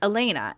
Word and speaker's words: Alana: I thought it was a bit like my name is spelled A L A N A like Alana, but I pronounced it Elena.